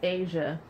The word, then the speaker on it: Aja: with that ah okay Asia Asia which is how you say my name well my how you spell my name on my birth certificate aja aja okay and this has